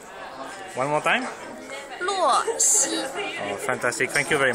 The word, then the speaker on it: Luo Xi: Just the pronunciation. How would it be? Ah, you wrote the name. Luo Xi. One more time? Luo Xi.